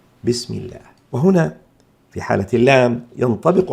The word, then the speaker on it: بسم الله: لام لفظ الجلالة مفخمة، في حين أننا إن كان ما قبلها مكسور كما في بسم الله، هنا الميم مكسورة فتأتي لام لفظ الجلالة هنا مرققة لا مفخمة. نقول بسم الله، لا نفخمها فنقول بسم الله، هذا خطأ. الصواب بسم الله، بسم الله.